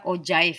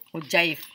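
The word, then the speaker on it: ogive: ataupun diagram lingkaran ya jadi dibaca ozaiv ya UC ogif itu dibacanya UC jadi Neng akan kita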